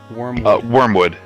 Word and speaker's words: Wormwood: How do you say it? Wormwood? Wormwood. Yeah.